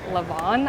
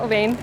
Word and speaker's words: Levain: We just went to Levain, which from an inside source is actually pronounced Levon, I think, but that feels a little bit wrong to me, so I'm going to keep calling it Levain.